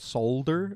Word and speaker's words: solder: solder but it's called solder in the world we don't pronounce the L in America I had no idea